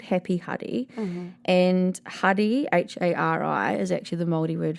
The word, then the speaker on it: Hari Hari: I used to call it Harry Harry, which I didn't realise at the time, but Hari Hari, because I was pronouncing it wrong, is actually a town on the west coast.